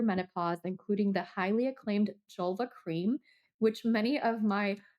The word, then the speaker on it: Jelva: including the highly acclaimed Jelva cream, which many of my listeners have utilized and loved. This is um for the vulva. It rhymes with julva, right?